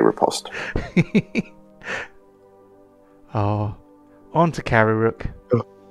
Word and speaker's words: riposte: he's only allowed he's only allowed to repost if he pronounces the t yes i do say riposte oh on to carry